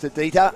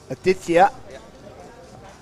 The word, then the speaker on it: Aditya: foot I'll find out against the Dita he's just coming to the team today squirt him up Aditya is the correct pronunciation let's have a look